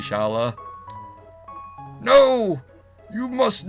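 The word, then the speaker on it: Schala: I've always used to pronounce it Scala, but I think it's actually supposed to be Shala.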